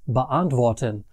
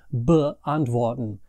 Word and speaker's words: beantworten: The only other thing that's special about inseparable prefixes is that the emphasis in the pronunciation is on the main part of the verb and not the prefixes.